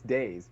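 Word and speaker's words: dais: that how you pronounce it I always pronounce it d It's days, but it is days.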